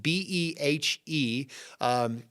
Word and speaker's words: Behe: Michael, and I think you say his name is Behe, B-E-H-E, Darwin's Black Box.